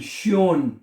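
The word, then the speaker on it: schön: ये भी है एस सी एच ओ एन, श्योन। इसको ओ को वैसे तो ओ पढ़ा जाएगा, लेकिन जब उसके ऊपर उमलाउट आ जाएगा, यानी दो नुक्ते अगर उसके ऊपर आ जाएंगे तो बनेगा श्योन।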